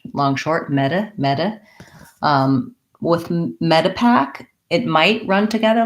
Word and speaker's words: Medipack: For Medipack, when we have words like Medicare, medicine, we have medi, which is like a vowel flap or a D, and an unstressed I because it's long short, meta.